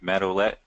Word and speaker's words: Matt Olette: olette by the way am I pronouncing your name right Matt olette yes excellent all right good deal